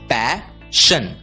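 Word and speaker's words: passion: इसलिए पी ए एस एस आई ओ एन का उच्चारण होगा पैशन पैशन words ending with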